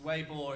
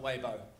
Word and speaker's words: Weibo: not pronounced wrong once it's way more it's not weibo um so so so